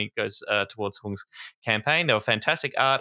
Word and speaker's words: Huong: give it a go you can say hung H oh nice that's